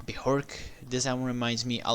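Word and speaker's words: Björk: of B bork now I know how to pronounce her name bihork this album reminds me a lot of her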